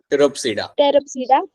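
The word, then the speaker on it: Pteropsida: आखिरी ग्रुप जो मेरा यहाँ पे आएगा, that group is going to be your टेरोप्सिडा. देखो पी यहाँ पे साइलेंट है, यहाँ पे भी आपका पी साइलेंट है, वहां पे भी आपका पी साइलेंट है.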